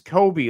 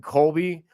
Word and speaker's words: Coby: Coby is spelled without the L. It's Coby, like Kobe Bryant, but Coby White. I don't know why everyone calls him Colby.